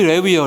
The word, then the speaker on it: 레위: 레위, 여러분, 레위. 영어로 스펠링이 L-E-V-I예요. 레위. 야곱의 셋째 아들. 리바이스이죠. 리바이스. 그게 레위요, 레위. 원래 이름이 우리 발음으로 레위라고 하는 거예요.